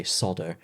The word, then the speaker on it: solder: r in it and there's another one where you miss out the l in solder and say sodo which really there's this really